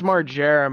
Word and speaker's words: Margera: Is that how I pronounce it? It's Margera, man.